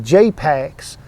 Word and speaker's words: JPaks: these is called packs now pax is spelt real clever like it's it's p-a-k-s and that's why he calls the company jpex j-p-a-k-s and i keep saying